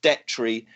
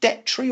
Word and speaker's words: Detry: 20-1 Antoine Rosner, 20-1 Thomas Detry. Do I pronounce him properly? Is it Detry or Detry? I think the first one, yeah, Detry.